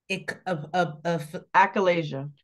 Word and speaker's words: achalasia: I She lets finally him know how to pronounce it. Achalasia.